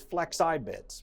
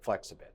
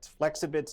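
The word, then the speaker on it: Flexibits: ex AI bi TS calm like it was flex I bids but they pronounce it flexible flexible calm slash talk so and again 14-day free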